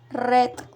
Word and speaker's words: read: misma manera sin embargo a la hora de pronunciar este verbo en pasado simple y en pasado participó debemos hacerlo de la misma forma como pronunciamos la palabra rojo en inglés es decir red otro ejemplo de oración